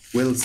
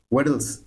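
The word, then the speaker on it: Weddle's: যাই হোক, এবং আমাদের 4 নম্বর আরেকটা মেথড আছে, সেটা হচ্ছে দি ওয়েলস মেথড, ওয়েডলস, সরি উচ্চারণ ভুল করছি, এটা হলো 4 নম্বর হচ্ছে ওয়েডলস মেথড, WDLES, ওয়েডলস রুল।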